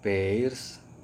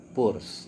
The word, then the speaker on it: Peirce: dari pos ya Hai Sekali lagi bukan Charles Sanders peirce atau pers tapi dibacanya purs ya mengikuti ejaan yang disarankan oleh Charles purs bilang wedding only Inside